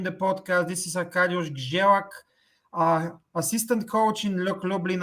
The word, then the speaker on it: Grzelak: Is Grzelak the right pronunciation? It's Grzelak. Grzelak means, Grzelak is R and Z in Polish language is called as Ż.